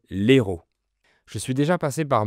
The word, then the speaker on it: Hérault: Attention, c'est pas le même mot que le héros d'un film. Si je dis le héros d'un film, le héros d'un livre, le H bloque l'apostrophe, donc je garde l'article le. Mais le département français s'appelle l'Hérault.